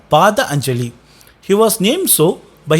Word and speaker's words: Patanjali: Even though Patanjali is named used in Sanskrit, it is correctly pronounced as Pada Anjali.